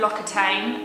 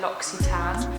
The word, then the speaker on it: L'Occitane: L'Occitane is a brand that I had been pronouncing wrong for most of my adult life. Rather than L'Occitane, I thought they were called L'Occitane, but they're L'Occitane.